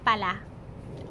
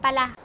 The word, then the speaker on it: pala: have another untranslatable tagalog world and that is Paula Paula Allah Allah is used to express being surprised